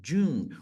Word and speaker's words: June: birthday is in June Olha a pronúncia disso June o e é completamente mudo é como se a gente falasse só as três primeiras letras June June aí a